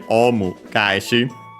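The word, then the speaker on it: オウム返し: So yeah, it's actually a compound term here, omu gaeshi. Gaeshi comes from actually kaesu, a verb. The voicing, adding the duck 10, happens because it's then added here as the second word part of the compound.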